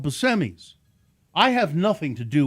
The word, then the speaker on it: Buscemi: tape and he said hi this is Steve Buscemi and in the where is it Monroe in in Monroe Michigan there there's a pizza restaurant called Buscemi's.